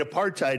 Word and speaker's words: apartheid: Is it Apartheid? No, it's apartheid.